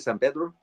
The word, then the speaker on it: San Pedro: Um, Last couple of films I did was one was in San Pedro, where they say San Pedro in my the way I would pronounce it, San Pedro.